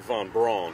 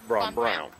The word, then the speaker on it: Von Braun: But I just want to it looks like, friends, it looks like Von Braun. Uh-oh. But they pronounce it Von Braun.